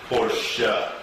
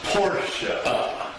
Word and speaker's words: Porsche: The pronunciation of Porsche is Porsche. A two syllable word with the emphasis on the first syllable. Porsche.